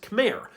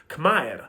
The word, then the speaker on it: Khmer: So Khmer would have actually been pronounced Khmer. But as the language evolved, most dialects went through a sound change, where the letter R was lost at the ends of syllables.